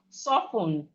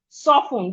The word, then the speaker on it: soften: We have soften. Soften. The T in soften is silent, not soften.